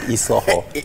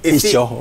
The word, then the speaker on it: Ishoho: You know, not Isoho. Ishoho.